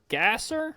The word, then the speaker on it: Gasser: Robert Gasser or I'm pretty sure is how you say it.